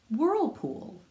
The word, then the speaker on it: whirlpool: Now WH sounds like W, like wah, and the H is silent.